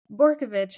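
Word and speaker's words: Bortkiewicz: as pronouncing, but you did works by Sergei Barkowitz. Is that the correct pronunciation? Borkovich, I believe.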